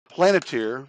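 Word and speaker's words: Palantir: Planeteer, that's spelled We P-A-L-A-N-T-I-R.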